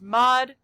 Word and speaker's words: mod: This sign we pronounce as mod, and then the number after is the group size.